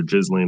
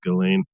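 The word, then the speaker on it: Ghislaine: Um first and foremost, I I cannot believe for a second I attended the Galain Maxwell trial. That is the way they pronounce her name. You can jokingly call her Jizlane or whatever you want, but just it's for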